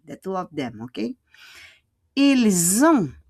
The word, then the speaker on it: ils ont: Ils ont, the S will become a Z. Ils ont, and we don't pronounce the T.